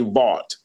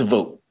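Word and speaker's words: Vought: Guess I found out the correct pronunciation of his last name because to me I would say bought. Yeah. Looking at it. V O U G HT T. No, brother. It's Vote.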